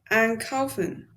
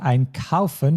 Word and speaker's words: einkaufen: Einkaufen. Yes, and do you know which syllable you should stress with this verb? An. Yes, so be careful because you said einkaufen, but in this case it's einkaufen.